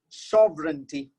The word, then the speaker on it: sovereignty: That's how you pronounce this, guys. Wednesday. Let's go to the next one. Sovereignty.